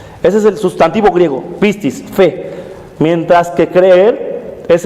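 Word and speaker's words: πίστις: largo del pasaje es el sustantivo griego pistis así se pronuncia bien exactamente ese es el sustantivo griego pistis fe mientras que creer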